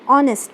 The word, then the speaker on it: honest: An is used before words beginning with a vowel sound or with a letter H when it is not sounded.